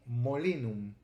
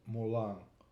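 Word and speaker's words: moulin: Mula comes from Latin molinum and it's written m-o-u-l-i-n now if we follow the Latin rules we would read Molin but in French this is pronounced Mulan we see that o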